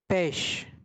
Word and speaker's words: pêche: Next fruit is pêche. Ch is pronounced like sh in French.